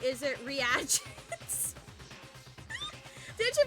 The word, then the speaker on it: reagents: When I first read that word, Emma, I read it as regents. And I was like, that doesn't seem right. Is it reagents? Did you pronounce it as regents?